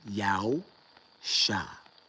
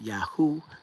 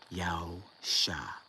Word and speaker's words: Yahusha: spelled in Zechariah and pronounced in the ancient Hebrew form as Yahusha, meaning Yah saves. Yah is salvation. Not Yah is opulence, not Yahoo, not Yeho, not Shua. Very simply, Yahusha.